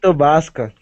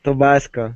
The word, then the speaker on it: Tabasco: It is Tobasco. The name of her is Tobasco. Tabasco? It's Tabasco, yeah.